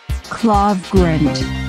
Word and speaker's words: Klevgrand: fun of people that don't know how to pronounce their name right. Grint. Klevgrand, Klevgrand, Klevgrand.